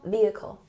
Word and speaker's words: vehicle: And don't forget, we don't pronounce the H in vehicle. Recreational vehicle.